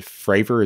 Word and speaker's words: Fravor: And it says right here, Richard, within this article, the one that you sent me, retired commander David Fravor, is that how you say his name?